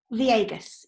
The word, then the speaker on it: Viegas: How do you pronounce? Is it Viegas? Viegas, yes. Okay.